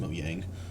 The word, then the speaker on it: Mojang: It's pronounced Moyang. Are you sure? Yeah. I'm pretty sure it's Mojang. It's Moyang. Okay, whatever. The J is a Y.